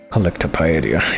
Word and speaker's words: Collectopedia: Collectopedia, yes. That's how you pronounce that.